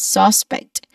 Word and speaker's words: suspect: Suspect and not suspect because that's a noun, but it's suspect. The stress is on the second syllable.